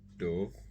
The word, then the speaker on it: dove: okay o Dove and the other word Dove is pronounced with a long o sound Dove and it is